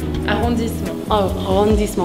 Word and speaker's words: arrondissement: Arrondissement.